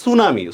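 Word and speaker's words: tsunami: আপনারা কমেন্টে লিখছেন সুনামি, সুনামি উচ্চারণের মধ্যে কিন্তু টি আছে, টির কি উচ্চারণ হয়?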